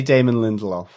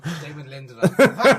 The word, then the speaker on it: Damon Lindelof: I don't know what you're saying yeah say Damon Lindelof Damon Lindelof Dam it that's actually the correct pronunciation of his name everyone else is getting